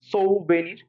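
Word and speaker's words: souvenir: সৌ ভেনির, এভাবে পড়তে হবে, সৌ ভেনির, তাহলে ভুল করবা না। আর এটা পড়তে হবে সোবেরেইনটি। খেয়াল করো, আমার উচ্চারণটা খেয়াল করো, সৌ ভেনির, সৌ ভেনির।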